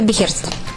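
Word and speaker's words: Beherzt: Как оно читается правильно? Оно читается Бехерст.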